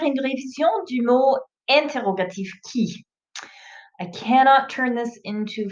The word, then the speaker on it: qui: Ça se prononce qui. Not qui. No qui. It's key, like a key to car, to your house.